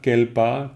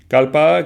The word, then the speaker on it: kalpa: considéré comme exception, mais disons kalpa, kelpa, kelpa normalement, mais évidemment kalpa, on prononce bien souvent kalpa. Kalpa qui, pourquoi? Parce que alors le kalpa, ça vient, disons là c'est un cas un peu particulier, parce que kalpa c'est un mot sanskrit, c'est-à-dire qu'en sanskrit ça se dit kalpa.